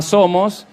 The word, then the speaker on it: SOWOS: Perfecto, porque yo le llamo Somos, porque básicamente se llama Somos, aunque se escribe con la M dada vuelta y suena como a SOWOS.